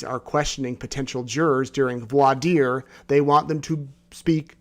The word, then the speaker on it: voir dire: multiple other hearings where vladir was talked about but last night I mispronounced it I said VOR Dyer or something like that and I heard about